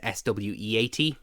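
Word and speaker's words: Corenswet: Cornsweet, whatever his name is pronounced. It's Sweat, is it? Sweet is 2 E's. Okay. Sweat is 1 E.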